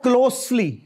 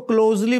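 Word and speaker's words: closely: और उसके बाद है क्लोजली, यानी एस है, जेड नहीं है, हमने इसको क्लोजली बना दिया, विच इज रॉन्ग।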